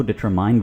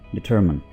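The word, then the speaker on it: determine: ठीक है restaurant डिटरमिन कुछ लोग इसको डिटरमाइंड बोलते हैं ठीक है डिटरमाइंड बिल्कुल गलत इसको आप बोलेंगे डिटरमिन मुत फरक यानी तरह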